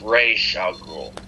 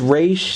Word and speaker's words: Ra's al Ghul: Also, it's pronounced Ra's al Ghul. Right. It doesn't matter, yes. Even though it is Raish, some people say Raz, like, yes, it could go either way.